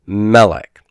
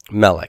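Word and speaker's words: מלך: begins to stress syllable as in the word melech melech which is king okay remember melech and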